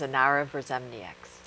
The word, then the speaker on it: Inara Verzemnieks: Her name is Inara Verzemnieks. Okay. Yes. Thank you. You're going to try to pronounce it now?